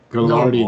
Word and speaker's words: Gilardi: Gilardi, that's how you say it.